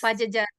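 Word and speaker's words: Padjadjaran: And you pronounce it right. Pajajaran, it's Pajajaran.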